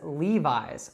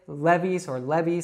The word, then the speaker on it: Levi's: Now in the United States, we would call these Levi's. So don't say Levi's or something like that.